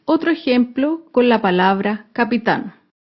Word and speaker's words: capitán: ejemplo con la palabra capitán capitán es una palabra aguda se acentúa en la última sílaba y lleva tilde porque termina en la consonante n capitán otro ejemplo con la